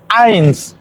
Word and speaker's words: eins: Entonces empezamos por el null, después sigue el eins, que se dice eins como si empezara con A, pero realmente empieza con la E y después la I.